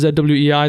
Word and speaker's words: Zwei: or like Zu which I believe is pronounced zwei that's another game and so